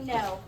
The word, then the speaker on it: know: know your name Canó but we say no and there are two silent letters in this word right the k and the W and the reason why the W is technically silent is because it's part of this Val team right here o w Val team